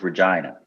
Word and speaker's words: Regina: and the town is regina vagina that's right i i always remember it rhymes with vagina yes vagina it's the